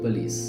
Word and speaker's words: police: නමුත් එතන ශබ්දය ඕ නෙවෙයි ඒතර අපි නිවැරදිව ශබ්ද කරන police and also we stress on the second syllable not on the first syllable.